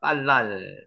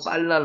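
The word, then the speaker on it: בלל: 빨랄. 발음대로 빨랄 나오죠.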